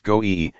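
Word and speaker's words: גוי: word minus vowels, and the Hebraic word for heathen is the three consonant word IEB, pronounced goe, and means a foreign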